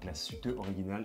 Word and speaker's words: Glashütte Original: Thankfully, Eleonor pronounces Glashütte Original perfectly.